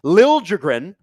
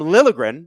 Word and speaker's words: Liljegren: Timothy Liljegren, which is different from Liljegren, which is what we used to say. He got to San Jose, and he's like, actually, here's how you actually pronounce my name.